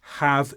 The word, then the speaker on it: have: with have you and in this use the pronunciation is not weakened it's have you and this means when